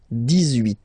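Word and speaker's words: dix-huit: Okay, then 18. So you will make this little link between the two, the liaison. 18, 18, 18.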